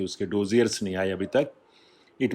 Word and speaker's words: dossier: Last is डोजियर, और इसका exact pronunciation मैंने देखा, that is called डोजिया। आर नहीं बोला जाता, और उस हिसाब से इसकी आउटलाइन भी है, लेकिन हमने तो डोजियर बोला है इसको। इट कैन be pronounced either डोजियर और डोजिया।